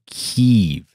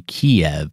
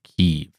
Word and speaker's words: Kyiv: a brutal onslaught of Kyiv, Ukraine's capital, which used to be Kiev, but that is the Russian pronunciation, so now the entire world is pronouncing it Kyiv.